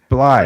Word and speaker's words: Blythe: His name is David Randall, and it's pronounced Bly.